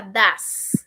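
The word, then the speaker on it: does: Do pasa a das. Ojo con la pronunciación. Do y das.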